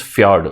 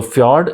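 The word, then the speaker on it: fjord: spelling is FJ o r d but the pronunciation is fod okay so fod and morine Lake the difference is morine Lake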